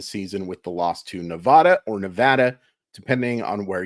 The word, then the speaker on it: Nevada: This is a debatable, but I think it's Nevada. That's how I hear most of the locals say it.